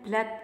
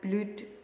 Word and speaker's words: blood: is due to Bleed jadi ya bacanya Blade ya bukan BLUD apalagi Blood NU darah itu tulisnya sekalipun pakai O2 bacanya Blade jadinya departemen yang kalau